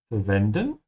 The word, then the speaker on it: verwenden: This is the standard way to say to use, verwenden. remember to pronounce the V like an F and the W like a V.